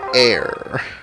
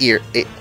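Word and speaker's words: Eir: Still looking for that air. Or, yeah, it's ear. Ear? Air? It's E-I-R.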